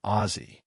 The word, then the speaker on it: Aussie: Why is Aussie normally pronounced with a Z sound?